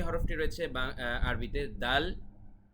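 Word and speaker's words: دال: যে হরফটি রয়েছে আরবিতে দাল এই দাল হরফ বাংলার দ এর মতই হুবহু উচ্চারণটি হয় তারপরে রয়েছে জাল এটা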